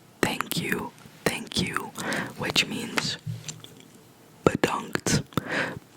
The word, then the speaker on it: bedankt: I want to say thank you, which means bedankt. Bedankt again, because it's a short E sound.